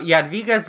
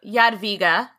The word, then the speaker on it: Jadwiga: We're going to say Jadwiga because that's how they say it. I hope I'm getting it right. But that's how they say it in Poland, where she is now the patron saint of.